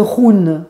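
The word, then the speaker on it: hun: l'appelle l'âme éterée et ça s'appelle le Run Run ça s'écrit Hu n ce run en fait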